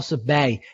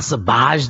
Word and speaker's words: Sabaj: And Paul Sabay, he corrected me. I was butchering his name for 3 weeks. He says, it's not Sabaj. The J is silent. It's Sabay.